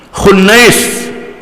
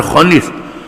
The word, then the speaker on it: Khunais: Yang ketujuh di kalangan Bani Saham, Khunais, bukan Khunis, Khunais bin Huzaifah, Khunais bin Huzaifah, Huzaifah, Hafsah binti Umar.